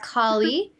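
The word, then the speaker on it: Kali: time to move on so this one is pronounced colie and it's the ultra powerful Hindu goddess is feared by those who don't understand the natural cycles of birth death death and rebirth collie is the embodiment of Mother Nature who cleanses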